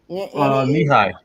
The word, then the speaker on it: Knee-High: then the nay bottling is that how you pronounce that greg what was that knee high knee high bottling the knee high